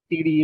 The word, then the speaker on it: Teedi: Where Ikko Dudi Tiri is how you pronounce in Gujarati.